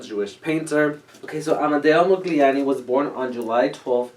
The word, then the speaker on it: Modigliani: to pronounce his name it has a g but it's not silent but it's not enunciated so amada was an italian jewish painter okay so amadeo mugliani was born on july